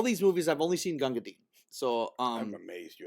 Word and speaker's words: Gunga Din: they're all it's an ensemble yeah yes um ganga din we got to see um and with it's